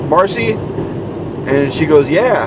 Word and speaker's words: Marcia: the uh intensive care marcy came to see him apparently it's marcy and not marcia because it's spelled m-a-r-c-i-a but i guess she just goes by marcy and one of the